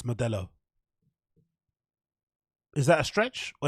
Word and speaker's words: Modelo: like you know uh model of 18 you know yeah core is eighteen dollars dude eight bucks eight bucks modella have you heard anybody pronounce a Modelo Modelo in your entire life modella like I'm not even